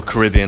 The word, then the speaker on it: Caribbean: It was a week cruise, Royal Caribbean, as the Americans say Caribbean, we say Caribbean.